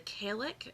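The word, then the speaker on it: Cailleach: crone goddess is the Kalec, and I recognize that it's spelled Callieach. I had to look up how to pronounce it once upon a time, but it doesn't look like that's how you pronounce it.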